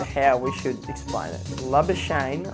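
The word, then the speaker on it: Labuschagne: we should explain it love a shame like champagne so like champagne love a shame that's the perfect pronunciation if you stick with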